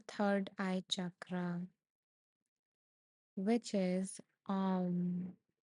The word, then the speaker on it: Om: The second part is U, pronounced as O.